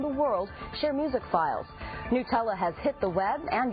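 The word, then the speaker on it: Gnutella: The Napster emulator is called Nutella with a silent G in front.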